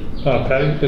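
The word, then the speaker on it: Patte: Patty, is it Patty?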